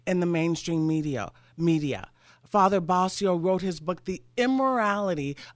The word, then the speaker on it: Bascio: That was Father Patrick Basio. His last name is spelled Bascio, a Catholic priest.